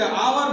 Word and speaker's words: hour: आप देखें, क्या देखें, जैसे ये एच साइलेंट है, हम हावर नहीं बोलते, आवर बोलते हैं। क्या बोलते हैं, आवर। तो यहां हम इसको देखें, HOUR, इसको हम आवर, इसको आवर बोलते हैं, ये नहीं बोलते हैं, ठीक है ना। आवर मतलब यहां से एच जो है आपका साइलेंट है, साइलेंट लेटर है, तो हम यहां से